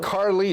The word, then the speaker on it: Carlease: were your parents thinking Carlie it's spelled just like a Carlie so like spelled spelt spelled like Elise on a car I've been asking my